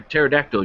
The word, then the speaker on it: pterodactyl: can't you hear a pterodactyl urinate why cuz the P is silent oh yes well anyway